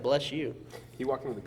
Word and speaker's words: Bleshoux: It's like BLESHOUX. Bless you. Like if you're going to like Louisiana, you know.